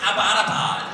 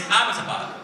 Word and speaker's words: Abbottabad: And she was like, yeah, and it's not pronounced Abbottabad. I was like, oh, well, how do you say it? And she was like, it's Abbottabad.